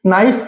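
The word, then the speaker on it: knife: तो शुरू में जब एन से पहले के दिया हो तो के हमेशा क्या होगा? साइलेंट होगा। देखिए के एन ओ डब्ल्यू नो का मतलब क्या होता है? जानना। ठीक? हमारी वर्ब है ये। नाइफ। नाइफ यानी चाकू।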